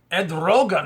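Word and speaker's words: Erdoğan: uh president of Turkey Ed Rogan is how you say his name uh said not on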